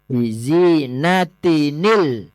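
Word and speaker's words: بزينة: inna zayyannasamaadunya bizinatinil kawakib itu bacanya bizinatinil nggih ditambahi nun wiqayah inna zayyanasamaadunya bizinatinil kawakib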